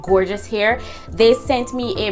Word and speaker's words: Gorgius: a la long talking this company is called gorgeous here but they're gorgeous it's spelled g-o-r-g-i us like yeah they're